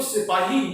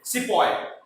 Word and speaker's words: सिपाही: थे वो इंडियंस थे, जिनको सिपाही हुआ करते थे, मगर ब्रिटिशर्स उनको प्रोनाउंस करते थे सिपॉय, सिपॉय उनको प्रोनाउंस किया जाता था।